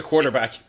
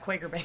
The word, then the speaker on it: Quaker Baked: Many people have ordered the quarterback. Yeah, the quarter baked, the Quaker bread, like anything except Quaker baked.